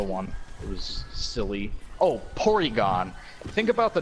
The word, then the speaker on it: Porygon: it was silly Oh porygon think about the name porygon this occurred to me like when I was in college like I never yes polygon it's like a it's a Japanese pronunciation of polygon and they kept it